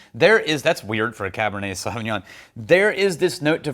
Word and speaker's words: Sauvignon: Sauvignon, Cabernet Sauvignon. And that's how you say it correctly in French. Sauvignon.